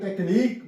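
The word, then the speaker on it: technique: यू के बाद ई आ गया है you silent यूनिक यू एन आई क यूई यहां प टेक्नीक भी हम लिख सकते हैं टीई सी एच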